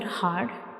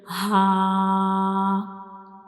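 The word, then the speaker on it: ه: Our next letter is ha, ha. So this is the shape of ha, and ha is a throat letter and it is pronounced from the bottom of the throat.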